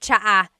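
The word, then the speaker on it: tsaa: There's the ts sound and then the double vowel uh pronunciation.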